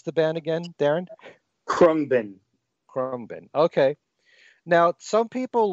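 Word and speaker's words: Khruangbin: How do you pronounce the band again, Darren? Krumbin.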